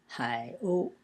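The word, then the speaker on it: 海鸥: Hai o. Hai is pronounced in the third tone, and o is in the first tone, o.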